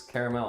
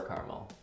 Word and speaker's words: caramel: It's caramel or caramel. Yeah, and but I've even always then, said caramel. If you say caramel, you put like a stronger stress on this third syllable, don't you?